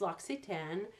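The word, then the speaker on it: L'Occitane: it going around and people asking people on the street how do you pronounce this store's name and you get all these different pronunciations but I believe it's Lux a ten so that's the way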